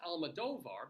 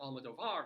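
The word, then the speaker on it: Almodóvar: films and it's pronounced almadovar because the accent is over the d o rather than the VAR the A and VAR because other people do pronounce it Elma doar it's like yeah doesn't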